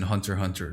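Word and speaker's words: Hunter × Hunter: The X in Hunter Hunter is silent.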